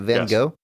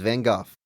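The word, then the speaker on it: Van Gogh: it's not van go it's not van go any joke about van go is wrong it's just a dumb American thing just not looking up how how she pronounce it and you're hanging your hat on this it's van goof it's van goof okay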